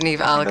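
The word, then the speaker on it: Niamh Algar: And it's starring, the main star is Naeem Alger. My name is Neve Alger.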